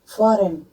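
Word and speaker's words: foreign: Align, डिजाइन, फॉरेन, फॉरेन में भी जी के साथ आया तो फॉरेन में जी साइलेंट हो गया।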